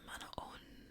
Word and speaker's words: Manahoana: Hello, in English we'd say Manahoana, but it's pronounced Manaon.